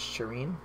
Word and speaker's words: Shireen: She said I was saying it right, so it's Shireen.